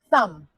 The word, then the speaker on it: thumb: Thumb. The B is silent again.